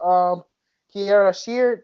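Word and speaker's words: Kierra Sheard: He did a song with Kiara Sheard, I believe that is that her first name? I'm pronouncing her name You are right.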